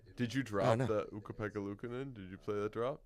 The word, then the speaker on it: Ukko-Pekka Luukkonen: Yes, the NHL dropped another one of those pronunciation guides. Ukko-Pekka Luukkonen is back in it.